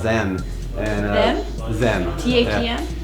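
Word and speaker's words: THVM: T-H-E-M? Yeah. It's T-H-V-M, but it's pronounced Them. And they're Silent V.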